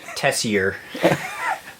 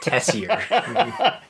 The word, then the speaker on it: Tessier: And if you're wondering how to spell it phonetically, it's Tessier. Kind of like messier, but Tessier. It's French.